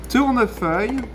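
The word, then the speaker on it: Tournefeuille: how to pronounce it we have actually even tell you on the back label how to pronounce it turner fire means turning leaves why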